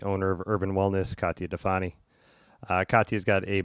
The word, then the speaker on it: Difani: modern yogi uh today my guest is katya defani that's pronounced your last name right yeah hell yeah